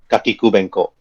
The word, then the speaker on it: Kakikubengkok: very stupid uh dungeon name and you said kakikubenko even you guys as adventurous having a hard time to even pronounce it's okay people let's just call it